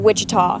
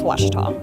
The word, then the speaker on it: Ouachita: Back in Texas, everybody pronounces it Wichita, but really it's Ouachita.